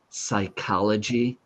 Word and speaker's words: psychology: And Rezan, there are other words in English like the study of the brain, psychology, and the P is silent.